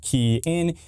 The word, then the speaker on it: Kian: Hey everybody, it's Kian with the RideShare Guy, pronounced Kian.